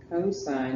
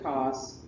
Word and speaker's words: cosine: Cosine is how you say it. Don't call it cos. And then tangent. T-A-N-G-E-N-T. Tangent. Sine, cosine, tangent.